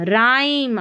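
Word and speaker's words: rhyme: यहां पर है रिदमम राइम। आर एच को र पढ़ देना है।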